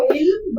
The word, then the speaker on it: इल्म: देखो, ऐन की ऐन लामजेर इल और मीम की आवाज म, मीम साकिन रहेगा, इस पे जेर जबर नहीं रहेगा। तो ये क्या बन गया? इल्म।